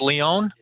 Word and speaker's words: Lyon: uh massachusetts and lyon is that how you pronounce it in french leone it's a very good pronunciation this is uh